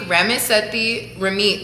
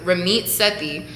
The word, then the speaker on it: Ramit Sethi: I mentioned him last week, Ramit Sethi, that's how you pronounce it, Ramit Sethi.